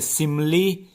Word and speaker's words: simile: इसका चलिए प्रोनाउंसिएशन भी सही करने के लिए बता दूं, इसकी सही प्रोनाउंसिएशन क्या है। देखिए, सिमली इसे बोलते हैं, सिमली जिसे कि उपमा अलंकार बोलते हैं।